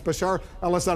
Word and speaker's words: Bashar al-Assad: in charge Bashar al-assad I know you've mispronounced his name a few times uh but uh it's Bashar alad I know the uh